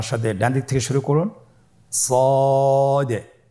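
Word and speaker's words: ص: শুরুতে আমরা শুরু করছি সদ। সদ হরফটি পর হরফ। মোটা হরফ উচ্চারণ ক্ষেত্রে মোটা করে পড়তে হবে এবং উচ্চারণ করার সময় তিন আলিফ টেনে পড়তে হবে। আপনারা আমার সাথে বলুন সদ আবার বলুন সদ।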